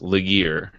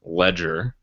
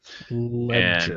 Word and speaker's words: Legere: John, as we have called him in the past, Legere. That is not his name. The correct pronunciation is John Ledger. Ledger.